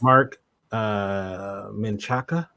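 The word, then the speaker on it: Marc Menchaca: Jack Hoskins this guy is killing it yes mark min Chaka is how you say his name uh yeah I just pulled it up mark menchaca I've never I don't remember seeing this actor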